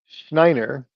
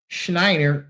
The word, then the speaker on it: Schneier: The book is called Schneier on security.